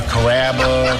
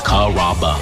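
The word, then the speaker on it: Carrabba's: You know, Kuraba, Kamaba, Kamba. It's a really easy name to pronounce. It's Kaba.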